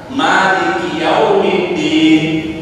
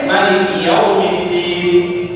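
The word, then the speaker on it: مالك يوم الدين: Ada yang mimnya panjang. Maliki yaumiddin. Ada yang pendek Maliki yaumiddin. Ini perbedaan yang dibolehkan.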